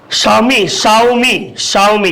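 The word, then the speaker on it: Xiaomi: Samsung है, या आपको इसको क्या बोलते हैं शाओमी, क्योंकि एक्स को साइलेंट कर देते हैं, शाओमी है।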